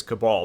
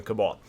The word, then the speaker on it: Kabal: within this system now the general consensus is is that the pronunciation here is cabal but some are saying it's cable some are saying it's